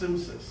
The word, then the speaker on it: CMSIS: CMSIS, thank you. Pronounced Simsys.